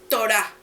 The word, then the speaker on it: Torá: La historia una es la torá que se pronuncia torá los libros de Moisés